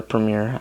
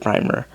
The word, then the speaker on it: Premier: Premier of France, or Premier, I always pronounce it Primer, like the paint, by President Albert Lebrun.